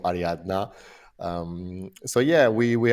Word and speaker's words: Ariadna: uh number three uh ad Adriana am I pronouncing it right I'm already getting it wrong jard take take us take us into this one yeah so so this is this is called ariadna um so yeah we